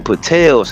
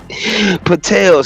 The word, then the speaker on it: Patels: They should name rhyme with hotel. You know what I mean? Just change the two letters in the in the front of that the money. Patels have higher education and